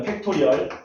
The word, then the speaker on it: 팩토리얼: 팩토리얼. 팩토리얼. 팩토리얼. 공장 아니다. 팩토리 아니다. 팩토리얼.